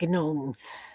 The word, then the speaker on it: gnome: I was just on a rant about gonks and gnomes. I know the G is silent.